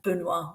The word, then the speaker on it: Benoît: And Benoît, we don't pronounce the T.